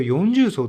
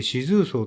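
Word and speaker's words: 四重層: この四重層という読み方は私はずっと 40 層と読んでいまして、今回初めて四層と読むことに気がつき愕然としました。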